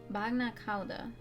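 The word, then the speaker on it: bagna càuda: Bagna Kauda. Okay. You actually pronounce it that way.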